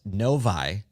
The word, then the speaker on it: Novi: So Marissa shared with us, it's pronounced Novi, but she did also go on to say, although I like Novi more, it sounds fancier.